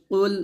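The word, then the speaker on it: قُلْ: উচ্চারণ করা যাবে না কফটা মোটা উচ্চারণ করবে পেশ কুল এরকম হামজাহ জবর আইন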